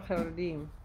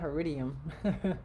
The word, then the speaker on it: Haredim: No, Sefer Haridim. Not Haridium. What?